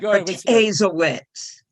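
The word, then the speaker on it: Protasiewicz: A very progressive woman has won the Democratic nomination, and being Wisconsin, her name is completely unpronounceable. But the Republican guy, Protazewicz, really? Go ahead. Protazewicz. One more time. Protazewicz.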